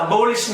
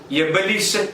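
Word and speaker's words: abolition: അത് അബോളിഷൻ അല്ല, അത് എബലിഷൻ എന്നാണ്.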